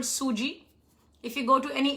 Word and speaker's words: sooji: is cream of wheat which is also called suji if you go to any indian store you'll